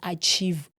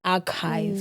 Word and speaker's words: archive: I remember there was a time that I pronounced archive as achieve. They came for you. Oh, they came for me. And I remember there was a ninja that literally came to Instagram. You said, "Hey, ninja. I saw you said achieve. It's actually archive."